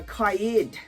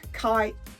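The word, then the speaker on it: Qaa'ed: about this uh uh kayed kai it's spelled q double a hyphen e d you know so let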